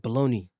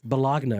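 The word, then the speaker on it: bologna: __ ] are dumb by the way baloney has a g in it too guys just in case you dummies didn't know happen just in case it's spelled b o l o g n a just in case that always threw me off as a kid too cuz I be like bagna right it's cooked yeah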